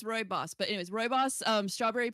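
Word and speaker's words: rooibos: ingredients are hibiscus chamomile roy boss. I had to look up how to pronounce that because I wasn't sure. So it's roy boss but anyways boss um strawberry pieces orange blossom and lemon peel.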